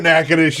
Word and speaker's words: Natchitoches: minute wait a minute Natchitoches nothing sounds like how it's spelled in Louisiana bill says is that near New Orleans all right I know where nakanish is okay we got